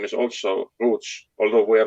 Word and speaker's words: Roots: We pronounce it Roots, not Roots, but it's a very common name.